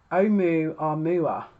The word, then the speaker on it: Oumuamua: It was called Oumuamua, right? It's spelled Oumuamua, and in 2017, it was discovered on the 19th of October 2017.